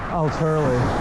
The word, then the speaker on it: Alturlie: Say Al first, and then Turley. Alturlie.